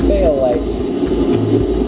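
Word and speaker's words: fayalite: iron rich slag is sometimes called fail light but I think is really hilarious because it sounds like fail light like the mineral failure but it's it's spelled f a y so what we've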